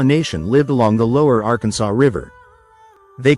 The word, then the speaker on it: Arkansas: In that silent s lies a legacy of culture, colonization, and compromise.